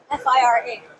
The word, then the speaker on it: FiRa: Oh, I thought it was pronounced FIRA, F-I-R-A. F-I-R-A, exactly. So. But it's FIRA, so I stand corrected. It depends on, let's say I am based in France, so maybe the I is pronounced as an E, but still it is